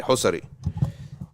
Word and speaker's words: Husari: how you say it I think that in Egypt we say hosari in Hashem they say history or history but he wasn't from